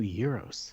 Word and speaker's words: gyros: You pronounce it right too, gyros.